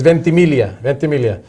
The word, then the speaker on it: Ventimiglia: It's Ventimiglia. If my homeboy Joe Palmisano's watching, Joe Palmisano, if he's watching, he knows. You don't pronounce the G.